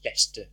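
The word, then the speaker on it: Leicester: fine you can do that if you want pronounce Lester yes Lester Lester Lester so the Dawlish speak beach cams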